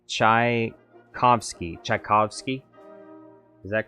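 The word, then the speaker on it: Tchaikovsky: say his name wrong chai as in chai t c as it sounds uh phonetically and in sky is in ski so chai kovsky chovsky is that correct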